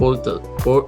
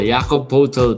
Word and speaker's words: Poeltl: First, Jakob Poeltl. Paano ba i-pronounce to? Poeltl. Oo, Jakob Poeltl.